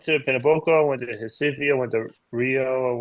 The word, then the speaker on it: Recife: Did he pronounce that right, Vanessa? Recife, Uh, yes. oh, Yeah, okay. Recife.